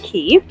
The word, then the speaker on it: Cay: going into the Caribbean key and yes Cay is pronounced key for this uh who